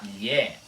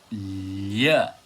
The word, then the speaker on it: lh: E se vocês forem prestar mais atenção, a letra Lhe na língua balborana é pronunciada com a boca assim. Lhe, lhe. E assim vocês provavelmente perceberam